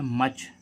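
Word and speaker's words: much: है धूल ऐसे ही देखें मच एम यू सी एच एम क्या है कॉन्सोनेंट सीवी क्या है कंसोनेंट इन इन दोनों के बीच में क्या आ रहा है य तो उसका इसकी ध्वनि क्या निकल रगी आ यानी कि मच मच मींस अधिकता तो गाइस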